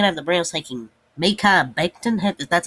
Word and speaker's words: Mekhi Becton: Number 10, I have the Browns taking Mekhi Becton.